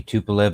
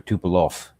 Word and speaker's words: Tupolev: that bothers me because I'd love to know if it's actually Tupolev or Tupolov. I think it's Tupolev. I think it's pronounced Tupolev. Okay, well, L-E-V. Okay, L-E-V at the end.